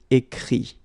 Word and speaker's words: écrit: Écrire, to write, will become écrit. Okay? Remember that phonetically this final T doesn't exist. Okay? So the sound will be only this I.